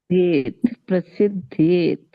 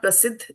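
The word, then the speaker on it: prasiddhyet: Already they have said one is jyāyaḥ and then is prasidhyet. Prasidhyed. Prasidhyet. Not prasidh. There is no double T there. Double D.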